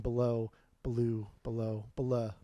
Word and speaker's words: Belew: But I asked him, how do you pronounce it? He's like, oh, it's Belew. I was, really? And he's like, that's how I've always said it. And I was like, okay, well, he's been saying it like that for 40 years. I'll say it like that too. Like the bear from the Jungle Book.